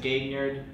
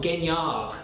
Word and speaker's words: Gaignard: But there's an extra G there. Well, Gaignard is where, like, if you were in France, and I was trying to impress a lady, that's how you say it.